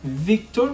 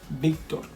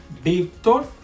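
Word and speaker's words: Víctor: Remember that the V and the B in Spanish sound exactly the same. There's no difference in the pronunciation. Let me give you some example. Victor, okay? You will pronounce it Victor, but no.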